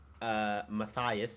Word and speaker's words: Matthias: the 4th, me, Matthias, who's my friend who plays Beast of Chaos. Pretty sure it's pronounced Matthias.